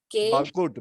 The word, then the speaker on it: Bagalkot: बागलपुर की spelling BAGALKOT। BAGAL बागलकोट, बागलकोट है तो बागल बागलकोट है, बागलकोट है, बागलकोट है।